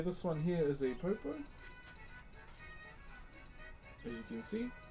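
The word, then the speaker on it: poupou: Okay, next one is a popo.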